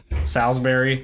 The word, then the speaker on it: Salisbury: great to know eat my point is Salisbury Salsbury yep that I have a some ground up